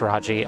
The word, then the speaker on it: Raji: raji in ancient epic i believe it is pronounced raji r-a-j-i um it's a a